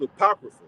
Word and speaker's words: Apocrypha: supposed to be there right so that's that's pronounced Apocrypha apocrypha mean to send away hidden all right